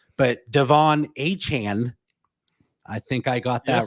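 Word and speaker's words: De'Von Achane: Miami Dolphins that is and his print the pronunciation has changed several times here on this young man's name but Devon a Chan I think I got that right that's right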